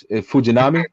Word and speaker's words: Fujinami: Fujinami, right? You said it right. You said it good. Oh wow, look at me. Hey, one for the Puerto Rican guys. But anyway, so Fujinami is a guy who hits 104 on the radar.